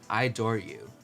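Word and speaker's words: Idoru: final track track number 10 I believe is pronounced ID or u so she opens by saying you are the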